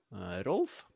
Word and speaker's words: Rolf: Yeah, but it's like Volkswagen. It's the V is the sounds like an F.